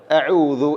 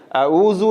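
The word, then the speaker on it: أعوذ: രണ്ടുതരത്തിലാണ് അബദ്ധങ്ങൾ ആയിട്ട് പറയാറുള്ളത് അഊദു എന്നുള്ളത് ഔദു എന്നും പറയും ഔദു എന്നും പറയാറുണ്ട് ഔദസു എന്നുള്ള പദം നോക്കൂ ഇവിടെ ഔദു എന്ന് പറയുന്നു അതുപോലെതന്നെ അഊദു എന്ന് പറയുന്നു ചില ചെറിയ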